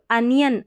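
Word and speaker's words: onion: sound आ रहा है अगर हम य की बात करेंगे तो अनियन अनियन में य का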